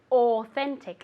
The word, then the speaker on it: authentic: As if it were an O. One more time. Very good. Authentic.